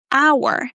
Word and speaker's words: our: are going to find our. For example, she's our friend. But native speakers would pronounce it as are. So they would reduce the first two vowels and just pronounce the consonant R.